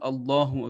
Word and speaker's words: Allah: But if before the name of Allah, you have a letter on which you have either a dama or a fatha or a zabar or a pesh, then the name of Allah will be pronounced with a thick voice.